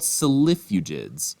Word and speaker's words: solifugid: I don't know why for my entire life I never noticed the I in that word. It's like an optical illusion or something, but yeah, solifugid is the correct way to say it.